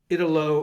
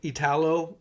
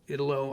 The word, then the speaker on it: Italo: this was by uh Ito uh I always mispronounce his first name calino anyway Italo Italo I I apologize Mr